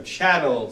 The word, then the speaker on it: chattel: protects Shadow slavery so chattel slavery is where Channel like rhymes with cattle it's property you're livestock